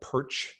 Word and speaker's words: Pyrcz: name don't be uncomfortable just say it like perch if you do that